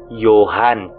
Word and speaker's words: Johann: Johan talaga ang pronunciation ng pangalan ko.